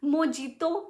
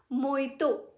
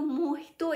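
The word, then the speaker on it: mojito: सुनती थी कि ओके इट्स मोजितो नहीं होता, इट्स मोइतो, J silent, J in fact H हो जाता है वहाँ पे, तो मोहितो इज the right pronunciation, but आप यू कैन से इट मोइतो।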